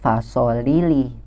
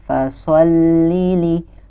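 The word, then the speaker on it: فَصَلِّ: ada double hurufnya Hai jadi ketika kita membacanya Jangan membaca fasholli tapi ditahan dulu fasholli Liverpool Lili jadi seakan-akan huruf lam itu double adalah yang sukun terlebih dahulu baru lam yang kasrah sesuai Lili itu dia huruf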